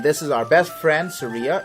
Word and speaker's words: Saria: And this is our best friend, Saria. It's Saria, not Saria, you motherfuckers. It's Saria.